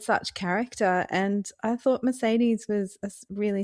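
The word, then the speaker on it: Mercédès: It's Albert and Mercedes, which is how my audio narrator pronounced her name. I would have said Mercedes.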